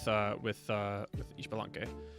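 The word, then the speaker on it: Ixbalanqué: Hunapu and Ishbalank. Is that right? I know the X is like pronounced like sh in a lot of native languages.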